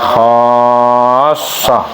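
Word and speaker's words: خَاصَّةً: di antara kamu, khassah, tulisannya khassotan gitu ya, tapi dibacanya khassoh gitu ya.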